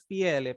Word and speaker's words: pala: Yeah, a pal or a vigati. How do you spell that? PAL, pal. You can also say it as PALA, pala.